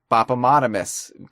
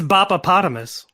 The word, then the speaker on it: Bopopotamus: It's Bopopotamus. Bopopotamus? It's like hippopotamus, but instead of hippo, say Boppa.